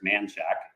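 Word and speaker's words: Manchaca: Well, first off, the pronunciation by the locals here is manshack. And so, uh, we'll help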